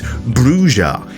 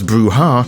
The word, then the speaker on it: Brujah: of said piece is the text that reads bruer indicating that very much indeed pronouncing the clan correctly which you can hear